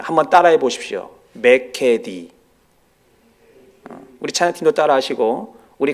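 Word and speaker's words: μηκέτι: 다시는 이라고 하는 말은 헬라어로 매 캐디 라고 읽습니다 한번 따라해 보십시오 매 캐디 우리차 키도 따라 하시고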